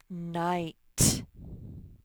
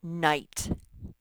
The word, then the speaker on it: night: have a few hangers night the g and the h are silent they make the eye say i night remember that the rest